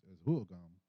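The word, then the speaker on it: Huhugam: We refer to them as Huogam, and Hohokam is just a mispronunciation that came later.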